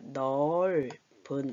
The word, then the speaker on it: 넓은: 넓은도 넓은데 넓다 이렇게 하면 안 돼요. 넓적다리 이럴 때 또는 밟다, 땅을 밟다 이럴 때는 예외지만 예로 발음한다 그랬어요. 넓은 이렇게 됩니다.